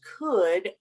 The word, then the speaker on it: could: And sí tiene L, pero no tiene sonido la L. Okay, so we know the word good, right? Bien, bueno. The words would and could rhyme with good.